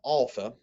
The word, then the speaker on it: alpha: delta and epsilon so the way you pronounce an alpha is like the a in father it's not exactly the same as our regular short a like an apple it's more of a i don't know a smoothed out type of a beta is pronounced virtually